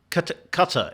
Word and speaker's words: Qatar: I always want to say Qatar, but it's Qatar is the correct pronunciation, is it not?